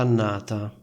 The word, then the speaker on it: annata: Questa è stata una brutta annata. Sentite la doppia N.